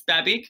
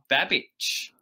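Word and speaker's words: Babić: babic um baby yeah it's croatian so i think it's technically got an accent on the end so uh but yeah it's it's babic but uh if you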